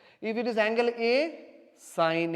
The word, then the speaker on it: sine: the small way is sign actually not seen so don't memory call pronounced like scene is not a scene is a sign okay si any but